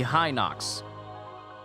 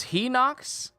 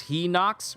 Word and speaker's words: Hylian: me that Hylian Shield pronounced at least to me high Knocks no it's he knocks no one can